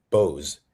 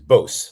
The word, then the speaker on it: Bose: and corrected me as Bose like like a dose.